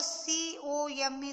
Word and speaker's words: come: The letter C in the word C-O-M-E sound like K. Come, K. It should be the sound of K. This is called the hard C sound.